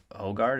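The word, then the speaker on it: Højgaard: So lowest ranked golfer is Hogard.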